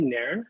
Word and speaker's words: Nairn: his name is andy neren have i said your last name correctly it's very good pronunciation it's a scottish name um but i think